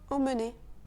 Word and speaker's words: emmener: Emmener. Emmener. Dans ce cas, le E, M, M, E est en fait deux sons. EM, en, et ensuite on a mené. Emmener.